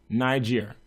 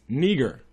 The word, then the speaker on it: Niger: teachers, as Barnabas and Simeon that was called Niger. And actually, I pronounce it that way, but in actuality, the Greek word for that is Niger.